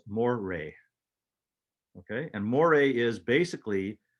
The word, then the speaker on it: moire: those lines are called moire m-o-i-r-e french pronounced moray okay and moire is